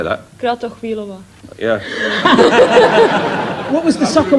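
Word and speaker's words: Kratochvílová: Kratochvilova.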